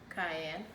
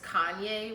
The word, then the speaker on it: cayenne: I have parsley, salt, cayenne. Fun fact, I used to pronounce this Kanye when I was younger. I legit thought cayenne was pronounced Kanye, so shout out to Kanye.